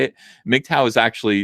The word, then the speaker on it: MGTOW: who aren't who just hearing me say it mow is actually it's the phonetic pronunciation it's MGT W and it stands for